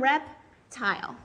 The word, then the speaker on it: reptile: I know my I has to be long because it's a silent E syllable. My E is making my I long. I read one syllable at a time, reptile.